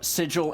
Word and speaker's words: Sigil: in the center of the wheel, which is pronounced sigil. Oh, is that? Yep. That's That- it is wow, that's a specifically nice, pronounced sigil.